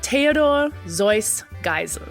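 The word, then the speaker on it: Theodor Geisel: came from Germany so the traditional way of pronouncing his name was Theodor zoy gel ah so when and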